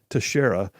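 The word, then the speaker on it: Teixeira: in the middle but apparently his name is pronounced Tashara he's a 21 year old resident of North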